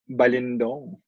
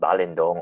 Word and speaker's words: Balindong: It's weird because it's the lin is supposed to be the pronounced syllable, like balindong, not balindong.